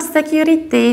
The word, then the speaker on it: security: next word is not security not security not security it's security security say you don't say that you say sit and you stress - like cucumber or q.q security security and in